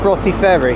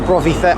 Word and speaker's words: Broughty Ferry: That 170, by the way, is calling it Broughty Ferry, or Brovy Ferry. I think it's Broughty Ferry, I think that's how it's pronounced.